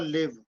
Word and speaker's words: live: But in like, or live, for example, live. The last E is silent. You don't speak it.